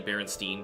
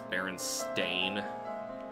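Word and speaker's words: Berenstain: Uh, it's like believing that um Baron Stain Bears is actually Baronstein Bears because that's how everybody pronounced it even though that's not how it's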